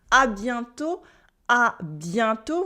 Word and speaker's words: à bientôt: And we also have lots of ways to say see you soon in French, as in à bientôt with a silent T for see you soon or talk to you soon.